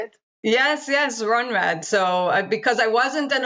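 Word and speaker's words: Rhönrad: Yes, Runrad.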